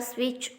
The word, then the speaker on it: switch: Turn the switch on. In this sentence, T is the silent letter.